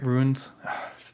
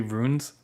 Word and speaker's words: runes: Ruins. People get on me because I always say like ruins, and it's supposed to be runes, but like it doesn't.